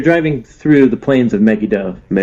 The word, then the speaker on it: Megiddo: we were driving through the plains of Megiddo. Megiddo.